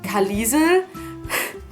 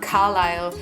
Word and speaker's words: Carlisle: know written in German I thought that it would be like Collison which I know I know but I was young and I had no idea we had discussions in school as to how to save this name and then when the movies came out and you know Carlisle was head it actually made so much sense to us but yeah we all